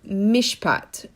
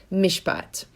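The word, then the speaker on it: מִשְׁפָּט: It's a Hebrew word, mishpat. Mishpat, if you remember your Hebrew, is spelled mem, shin, pei, tet. Mishpat.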